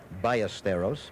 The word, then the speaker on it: Ballesteros: In his country, it would be pronounced Ballesteros, but I understand in an effort to make it easier for his American friends, he says, call me Ballesteros.